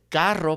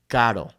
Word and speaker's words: carro: Or same thing with carro, right? We want to say carro, but we only say caro, okay?